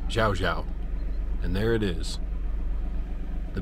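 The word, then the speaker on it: Llao Llao: I realize I've been pronouncing it wrong. I've been saying loud, but it's Xiao Xiao.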